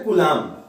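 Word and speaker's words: Coulomb: का नाम ढूंढना विस्मृते सी ओ एल ओ यू टी एम B silent और इसको बोलते गुलाम तो गुलाम को ही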